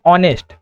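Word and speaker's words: honest: ऑनेस्ट। ऑनेस्ट जहां पर H silent होता है। इसको पढ़ते हैं ऑनेस्ट।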